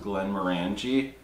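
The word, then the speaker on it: Glenmorangie: is finished in this i believe it's pronounced glenn moranji 18 year old um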